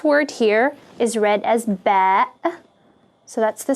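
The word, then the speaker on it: باء: letter is the letter ba which is pronounced like the letter b in english so it makes the sound ba remember it's a phonetic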